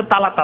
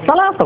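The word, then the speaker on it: ثلاثة: তালাতো আলাপ তো জাহেল মূর্খরা বলে। একজন আলেম কি করে তালাতা বলবে? সালাতা বলে, সা বলে, সার যে উচ্চারণ আছে মাখরাজ, সেইভাবে বলবে। কেমন করে তালাতা আলাপ বুঝাবেন আপনি?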